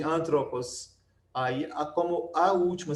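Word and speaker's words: ἄνθρωπος: O acento agudo, como falamos, só pode cair na antepenúltima sílaba, quando a última for breve, é o caso de antropos.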